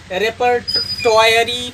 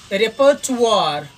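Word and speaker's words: repertoire: इन तीन शब्दों में देखिए, इसे अधिकांश विद्यार्थीगण मेमोयर्ड्स पढ़ते हैं, या रेपर्टोयरी पढ़ते हैं, या रिजर्वायर पढ़ते हैं, तो ये गलत है प्रोनाउंसिएशन।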